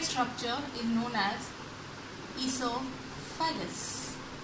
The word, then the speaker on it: oesophagus: structure is known as esophagus here o is silent but it starts from e but o is silent and in the definition